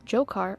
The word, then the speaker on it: Dzhokhar: The man she knew, Dzhokhar, or sometimes pronounced as Jahar Tsarnaev, wasn't some hardened terrorist.